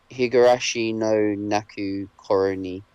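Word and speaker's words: ひぐらしのなく頃に: like a mystery horror right um it's called higurashi no naku corony that's that's how it's pronounced um uh yes it's apparently it's a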